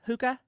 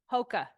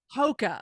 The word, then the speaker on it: Hoka: say it tell me how to say it hookah Hoka Hoka okay I'm gonna try remember that Hoka I